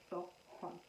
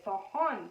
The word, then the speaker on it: Samhain: I'm really sorry, the Irish, the way they write their words and the way they are pronounced, it's totally different. It's called Samhain, not Samhain.